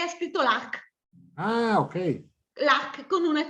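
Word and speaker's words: lagh: Lac con una C. Invece lago è L-A-G-H, lag. Lag, ok. Anche se noi poi lo pronunciamo lac.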